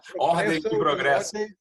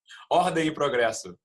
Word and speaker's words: Ordem e progresso: Ordem e progresso. Ordem e You say it properly. Say it. Ordem e progresso.